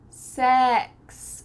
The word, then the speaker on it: sex: And when you use the short E, your tongue is flat. Sex.